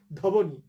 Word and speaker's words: ধ্বনি: ফেলে ধবনি, ঠিক আছে, কিন্তু আসলে এটার উচ্চারণ হলো ধ্বনি। এই যে ব্র্যাকেটে আমরা লিখে দিয়েছি ধ্বনি, ধতে একটু জোর পড়লো, ধ্বনি, ধতে একটু শ্বাসাঘাত হলো, একটু স্ট্রেস পড়লো, কিন্তু বফলার উচ্চারণ হলো না।